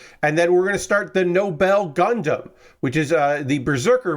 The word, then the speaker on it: Nobell: You may also recognize the Nobell as the Noble Gundam, because in the English dub of G Gundam, they just called it Noble instead of Nobel.